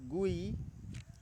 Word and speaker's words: GUI: graphical user interface or abated as GUI pronounced GUI is easier to learn